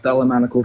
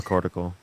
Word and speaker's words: thalamocortical: So just because that there's the I don't know how to pronounce the word still, the thalamical structure, or I'm saying that completely wrong. Thalamocortical. Okay, yes, that word.